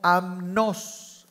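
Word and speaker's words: ἀμνός: está el cordero aquí una palabra griega que se pronuncia como amnos amnos que significa Cordero que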